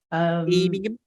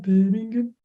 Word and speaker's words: Birmingham: Birmingham? No, they don't say it like that. How do they say it? Birmingham.